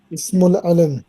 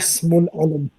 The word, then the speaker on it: اسم العلم: Ismul alam.